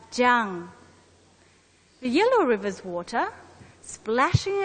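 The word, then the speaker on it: 江: The famous Yangtze River in China, the sound of its water against the rocks is gong, gong, gong. Hence, the character takes its sound and is pronounced as jiang.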